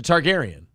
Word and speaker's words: Targaryen: a targaryen it's a targaryen what thank you for enunciating i didn't know how to say that targaryen that's how you say it what like tar gary in tar garrion if you